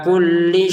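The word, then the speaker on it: كُلِّ: Ini yang menyebabkan ketidaklancaran kita, baik yang muda maupun yang sudah tua, ketika membaca Al-Quran kok memanjangkan kullinya, itu yang menjadi ketidaklancaran. Ala kulli syai'in, begitu ya, pendek saja.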